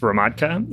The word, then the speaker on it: Hromadka: name is h-r-o-m-a-d-k-a and that's pronounced ramotka and that's check and if you have any other questions about my last name reach out on linkedin it's check and it rhymes with vodka that seems very appropriate